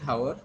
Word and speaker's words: hour: So H is silent, you are pronouncing it R, but there are some students, I have heard them, they're calling it hour.